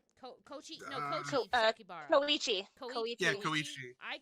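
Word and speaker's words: Kōichi: Koriichi Sakibara. Did I pronounce that right? Koichi Sakibara.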